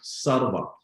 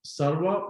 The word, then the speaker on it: Sarwa: somewhere i would recommend you using platforms like sarva i'm going to spend that out for you sarwa which is spelled sugar alpha romeo water alpha okay i